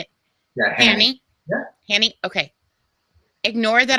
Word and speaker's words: Hani: Yeah, Hani?